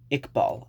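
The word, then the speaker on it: Iqbal: friend and he's named Samad ikbal uh which is spelled i q b a l um which oddly enough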